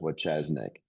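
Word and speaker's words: Wojcieszak: His name is spelled exactly like it sounds, Doug Wachesnik.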